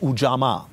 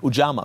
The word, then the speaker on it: Ujamaa: He was president of Tanzania from 1964 to 1985, and he tried a system of government called Ujamaa. I hope I pronounce it right. Ujamaa, because I'm not Tanzanian, I'm Nigerian.